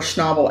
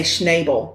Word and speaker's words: Schnabel: going to stumble over snobble every time cuz I want to say schnable but it's not Schnabel are you sure I'm